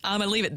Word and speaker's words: Iamaleava: Nico Iamaleava, I don't even know how to pronounce it. Iamaleava.